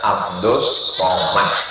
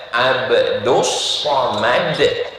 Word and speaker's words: Abdul Somad: Ini hamba Allah namanya Abdus Somad. Tulisannya Abdul Somad, tapi cara bacanya Abdus Somad.